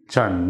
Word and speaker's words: Trần: Trần Nhật Duật.